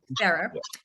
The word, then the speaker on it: Ferrer: Did I pronounce that correctly? Sir. Ferrer? Okay, Ferrer.